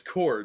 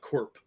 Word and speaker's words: LexCorp: It's core, not corp. You're kidding. LexCorp. It's not short for No. corporation? Corporation, yeah. Yeah, but it's pronounced core.